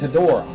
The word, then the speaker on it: Hedorah: The new monster is Hedorah. I'm pretty sure that's the way you pronounce it.